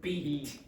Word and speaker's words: beat: So the pronunciation of this is bit, it, and this is beat, beat, bit, beat. Okay, Laurent?